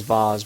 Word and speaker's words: vase: okay and i know some people pronounce that as vaz but whatever so if